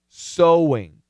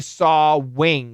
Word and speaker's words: sewing: This is a long O vowel. And this is obviously an SH with a long O. Okay? So, ah, O, sh, s, sawing, sawing, sewing, sewing, sawing. We don't say sawing, we say sawing, sawing,